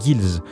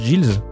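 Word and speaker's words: gil: alors oui pour commencer la monnaie dans les final fantasy ça se prononce gibbs je fais le malin mais je l'appris à 5 minutes donc du coup si comme guillaume tu prononces jls eh bien il faut arrêter parce que c'est pas la bonne prononciation comme d'habitude on va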